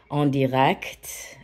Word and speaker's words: en direct: says en direct, which the way you would say that in Americanized English would be, it kind of sounds like it's the word en and then direct. En direct is the pronunciation.